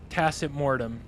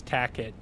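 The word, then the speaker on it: Tacet Mortem: It's tacitmortem. It's Latin for silent death. Yeah. But I have friends who know my name, like know how to say it right, and still address me as Tacket to with me.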